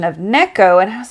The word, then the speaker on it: Neko: was pronouncing it incorrectly I was calling it Nico because that's I don't know just a more English way to say things but then we heard the correct pronunciation of Neko and I was like